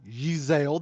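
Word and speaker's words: Yzaile: the sake of this you can call me yeezel that is spelled y-z-a-i-l-e um my character is a half-elf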